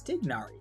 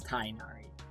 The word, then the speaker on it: Tighnari: well first of all i've been saying his name wrong i thought it was tignari but apparently it's tynaari so tainari um again